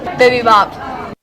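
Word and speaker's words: Bibibop: Bipibop. How do you pronounce your restaurant chain's name?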